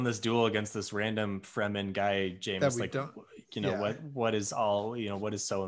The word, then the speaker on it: Fremen: I honestly don't know how you pronounce it. Yeah, but why? It's Fremen.